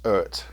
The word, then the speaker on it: EART: And I'm told it is pronounced EART, like a Jamaican would say earth.